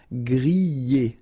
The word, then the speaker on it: griller: We've got so many exceptions, but in most of the cases, you will pronounce it y, okay? Griller, that's the reason why.